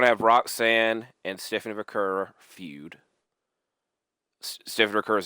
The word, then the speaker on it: Vaquer: is to have Stephanie Vaquer. I'm trying to say it right. I kind of say it like Naomi.